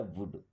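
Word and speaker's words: would: आई वुड like to सी, आई, I means होता है मैं, वुड, देखिए यहाँ पे एल साइलेंट है ना, वुड, विल का सेकंड फॉर्म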